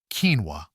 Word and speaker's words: quinoa: Here we are at number 5 with a food that was once considered exotic, but is now in every grocery store: quinoa, pronounced quinoa.